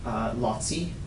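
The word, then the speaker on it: Laci: Her other brother had a son, Lotzi. It's spelled L-A-C-I.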